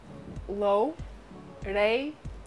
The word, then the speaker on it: Loureiro: Loureiro. You say Loureiro.